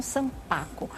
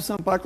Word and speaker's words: sanpaku: pra gente, primeira coisa, o que é um sampaco ou é sampaco que se pronuncia? Sampa a palavra é oriental e é paroxítono, por isso que ela